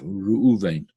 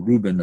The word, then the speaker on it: Reuven: The tribe of this month is the tribe of Reuven, or Reuben as it's pronounced in, I suppose, in English, right?